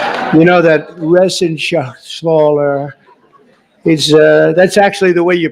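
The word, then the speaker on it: Reschenthaler: And Guy Resenshaw. You know that Resenshaw. That's actually the way you pronounce it, you know.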